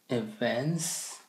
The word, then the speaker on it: events: Events? Yeah. So when you say it, make sure that you emphasize the T.